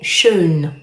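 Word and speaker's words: schön: Alors après vous avez le ha avec très main comme par exemple dans le mot shun. Je compare ça toujours à la première syllabe de la forme faisons.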